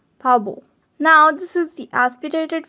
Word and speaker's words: 바보: So this thing here would be pronounced with a softer B at the start and a clearer B at the end. Pabo.